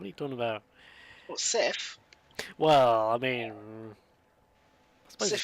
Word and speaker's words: Seath: Sith, as in the cleaning product, not Seath, as in I'm seething with rage.